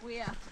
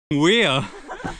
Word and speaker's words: Weir: Ooh, I think this is the wire. Or where? Or how do you pronounce it? Weir. Weir? Weir. That's it.